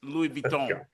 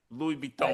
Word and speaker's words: Louis Vuitton: LV is for, I want to get this pronunciation correct because I often hack it. I'm Detroit Public School. So this is Louis Vuitton. Louis Vuitton.